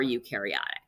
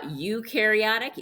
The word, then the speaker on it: eukaryotic: no membrane-bound organelles uh eukaryotic you rhymes with dew they do have a